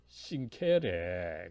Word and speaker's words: sincere: 그 모토가 프롬프트 et sincere 그죠? 프롬프트 et sincere 여러분 라틴어에서 이 C는 주로 이제 K로 발음이 나죠.